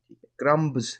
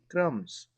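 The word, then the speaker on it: crumbs: तो ये जो बी है इसमें ये साइलेंट होगा। ठीक है? तो सर्कल का कहा है तो इसको सर्कल कर लेते हैं। यानी कि इसमें बी जो है वो क्या होगा? साइलेंट। यानी कि इसकी आवाज नहीं आप बोलेंगे। क्रम्स क्रमब्स नहीं कहेंगे क्रम्स।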